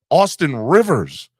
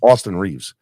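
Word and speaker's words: Austin Reaves: right Austin Austin Reeves I keep on saying Austin Rivers Austin Reeves Austin Reeves is a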